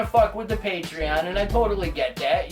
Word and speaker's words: Patreon: to read and think I'm trying to send you Patron I'm not sending you alcohol it's pronounced patreon so for those of